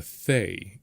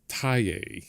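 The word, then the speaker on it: Thaye: upset about is the what we call a FA because that's how it looks, but it's pronounced Thai because of what it's originally.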